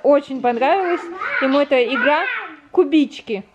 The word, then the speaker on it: Кубички: Кубички называется. Ударение на и.